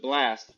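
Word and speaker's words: BLXST: This is uh I think you pronounce it blast, but it's BLX ST. Great R&B guy coming out out of Southern California.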